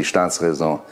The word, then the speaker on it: Staatsräson: Well, you pronounce it rightly, Staatsräson.